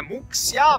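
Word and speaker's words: Muxía: Ci scrive Muxia, ma si pronuncia Muxia!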